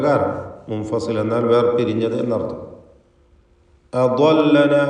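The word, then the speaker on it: أضلنا: അദല്ലന എന്ന് പറയുമ്പോൾ ദ്വാദ് ഇസ്തിഅലാഇൻ്റെ തടിപ്പിച്ച് സ്വരഭാരത്തോടെ ഉച്ചരിക്കേണ്ട 7 അക്ഷരങ്ങളിൽ പ്രധാനപ്പെട്ടതാണ്. അതിന് ഉച്ചാരണം ശ്രദ്ധിക്കുക. കൃത്യമായ അതിൻ്റെ മഖ്റജിൽ നിന്ന് ദ്വാദിനെ ഉച്ചരിക്കുക. നാവിൻ്റെ ഒരു വശം സൈഡ് നീളത്തിലും മേലെ അണപ്പല്ല് ചേർത്തുകൊണ്ടുമാണ് അക്ഷരം ഉച്ചരിക്കുക.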